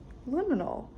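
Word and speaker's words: liminal: Didn't know how to pronounce liinal for the longest time. But I've got it now. Liinal.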